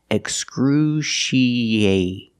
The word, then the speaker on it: excruciating: a together excruciate a we link the E and the a with a e sound together excruciating excruciating after the a we have the letter T and the t is between vowels so it's going to sound like a fast D excruciating excruciating thing we